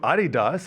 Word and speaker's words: Adidas: But then you go to Adidas. I believe I'm pronouncing that right.